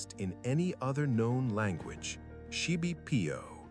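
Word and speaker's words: xibipiío: Shib PO pronounced sheibb and it means approximately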